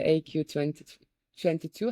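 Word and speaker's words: AQ22: little bit and yeah it's AQ like uh instead of IQ it's artificial intelligence and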